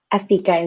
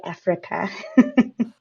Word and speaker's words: Afika: Is Afika the right way to pronounce the name? Afika is perfect. You got it right. As long as you Oh, didn't say Africa.